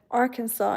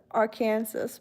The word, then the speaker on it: Arkansas: Same thing with um Kansas and then you call it Arkansas instead of R Kansas because it's spelled the same way but you still pronounce it differently but then you just accept the fact I guess.